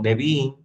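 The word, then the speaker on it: Nevi'im: La ley, que significa la Torá, los cinco libros de Moisés, los profetas que se lo pronuncia como neví y los escritos que es ketubín.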